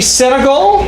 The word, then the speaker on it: Senegal: this week finally Senegal right I pronounce all right yes yes like me like the country yeah the country is